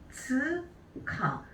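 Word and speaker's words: 二十日: 토오카라고 읽게 되죠. 자, 20일은 뭘까요? 맞아요. 하츠카.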